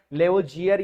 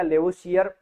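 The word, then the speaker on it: Lavoisier: से हो गया कि लेवोजियर या लेवोसियर बोलने के अंदर प्रोनाउंसिएशन के अंदर सीियर और लेवोजियर आप बोल सकते हो।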